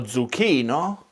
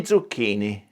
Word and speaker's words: zucchini: The same thing happens with other consonant clusters, including Z, because even though it's one consonant in the writing system, it represents ts or z. Lo zucchino, gli zucchini.